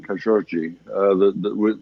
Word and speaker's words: Khashoggi: That's a Well, there's a local pronunciation, Khashoggi, which distinguishes between the two G's. The first G is hard and the second G is soft.